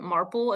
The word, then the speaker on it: Marple: Marple. It's not like it's basically maple with an R.